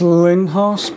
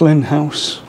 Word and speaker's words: Lindhaus: and that's two in-house i know how sometimes pronounce these linhars but it's pronounced lin house that's okay i can get away with it